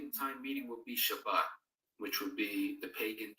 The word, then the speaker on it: Shabbat: I believe the Sabbath, the Shabbat, as we pronounce it, is a wonderful day.